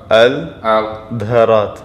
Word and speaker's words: Al-Dherat: So pronounce me again so I can get it exactly right. Al-Dherat.